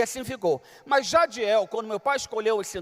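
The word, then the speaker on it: Jadhiel: Então você imagina os estrangeiros querendo pronunciar o meu nome, Jaril, até rádio me chamava, ô senhor rádio. Eu não sou rádio. Jadiel.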